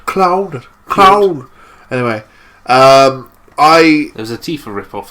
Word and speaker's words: Cloud: I was too busy being pissed off with their mispronunciation of the word Claude. Cloud.